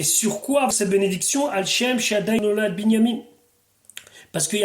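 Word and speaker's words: שַׁדַּי: Rashi, Anikel Shakai, donc je vais le prononcer une fois, Shaddai.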